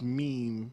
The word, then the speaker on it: meme: So we put up this this meme. Was it a meme? Maybe. Meme. A mom. As a Fuck. Frenchman, you should say mem, because you know that's what it means. I'm going to pronounce it meme.